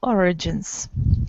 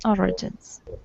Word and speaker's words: origins: about about the origins the stress is on the first syllable origins origins yes Melton yeah you're